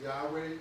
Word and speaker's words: Yahweh: Algunos dicen que es Yahweh, otros Yahwe, pero en el español se traduce como Jehová.